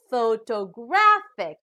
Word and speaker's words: photographic: is pronounced as photographer now the third word also has four syllables but this time the stress is on the third syllable so we pronounce this as photographic now we know already